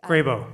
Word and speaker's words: Grabow: I've heard it pronounced Grabow. Grabow before, thank you.